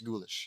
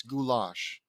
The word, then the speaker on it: goulash: It's not ghoullish, is it? No, there's no way it's ghoulish. It's goulash.